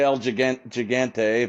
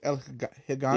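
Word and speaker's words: El Gigante: I say Eligant Gigante, but it's Eligante. I think I think the correct way to say Yeah, I think the correct way to say is El Higante.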